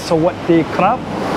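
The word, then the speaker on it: สวัสดีครับ: So the proper way to say it is Sawasdee krap. You kind of roll your R, krap.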